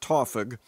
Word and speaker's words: TAWFG: Unlike many TAWFG members, which the kids incidentally like to pronounce Tawfug, Connor has no doubt about what he wants to do.